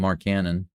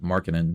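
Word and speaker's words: Markkanen: I've been calling him Mark Cannon, but apparently it's Markin. That's the way they're pronouncing it.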